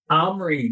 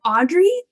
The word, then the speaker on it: Omri: Omri. That's the name of the main character. Got his name wrong throughout almost the entire movie. I know, it took us so long to figure out what they were really saying.